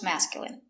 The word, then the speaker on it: masculine: Words ending in i can have different pronunciations. All of these have the sound in. Imagine, examine, engine, discipline, feminine, and masculine.